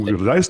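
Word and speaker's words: Uigeadail: Ugadal. Did I pronounce that right?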